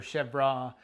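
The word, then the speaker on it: chèvre: been a cheese called chevre or chevra depends on how you want to pronounce it we call it chev it's a french word it means goat cheese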